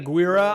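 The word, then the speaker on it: Aguirre: I especially like that early film he did, Aguilar or Agar. Aguira, I believe it's pronounced the Wrath of God.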